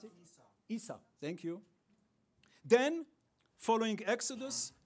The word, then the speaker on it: Esau: How do you pronounce it? Esau, thank you.